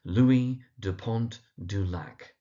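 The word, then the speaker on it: Louis de Pointe du Lac: And then last but not least, in Interview with the Vampire, we have this character Louie Deont Dulac.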